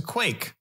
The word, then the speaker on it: quaich: me first what's a quake a quake sort of pronounced like Quake it's q a i